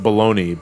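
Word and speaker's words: bologna: the week that is called as that is pronounced baloney but it's spelled balogna see when i hear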